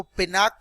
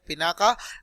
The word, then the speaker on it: पिनाक: और यहाँ पर जो ए जो है लास्ट के अंदर, वो जैसे राम का RAM स्पेलिंग होता है, रामा होता है और बोलते हैं राम, उसी तरह से इसका स्पेलिंग जो है उसी तरह से पढ़ोगे तो ये है पिनाका, लेकिन रियलिटी के अंदर